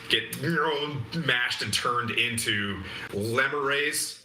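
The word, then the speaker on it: lemure: mashed and turned into lemon race like lemurs it's spelled like lemur lemurrays who can advance to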